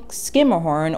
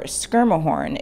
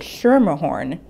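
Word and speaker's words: Schermerhorn: of fancy houses in manhattan's seaport district saying skimmerhorn or skirmahorn is the accepted pronunciation but if you slip up and say shurmur horn no one will fault you for that either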